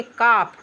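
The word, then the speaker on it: calf: यहां एफ से पहले एल आया है तो एल साइलेंट रहेगा। तो हम क्या पढ़ेंगे? एल नहीं पढ़ेंगे तो पढ़ेंगे काफ।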